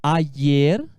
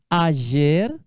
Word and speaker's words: ayer: Pode pronunciar ayer, ayer ou ayer. Ayer, com som parecido com o som do I. Ayer. Ayer, com som parecido com J do português.